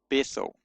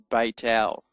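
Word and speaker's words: בית אל: And the name Bethel in modern Hebrew is Beit El. Beit El. So it's not a th, it's not Beth El, it's Beit El.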